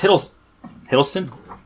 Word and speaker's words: Hiddleston: Well, yeah, but you have to admit that Thomas Hiddleston? Great actor, yeah. I'm saying his name wrong, aren't I?